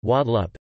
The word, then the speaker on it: Guadeloupe: Guadeloupe, French pronunciation, Guadeloupe, Antillean Creole, Guadeloupe, is an insular region of